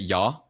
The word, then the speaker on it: Ja: Ja? Yeah. Ja? Is that yes? Yes. But it's spelled with a J, isn't it? Like jar.